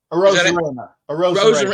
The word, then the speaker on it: Arozarena: Is it Ozareno or the guy who's lighting it up? Arozarena.